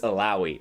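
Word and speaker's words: Illaoi: played ELO Elio how the hell do you pronounce her name elaoi Eli that's what it is isn't it it's elaoi all right yes thank you Joe so I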